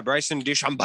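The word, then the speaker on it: Bryson DeChambeau: probably in better physical shape than uh uh bryce and d chambeau uh but uh is that how you say his name yeah bryson duchamp yes exactly yeah okay and uh but but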